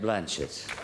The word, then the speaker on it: Blanchett: In America, her name rhymes with blank check. But it's not Blanchette. It's what we do to an almond.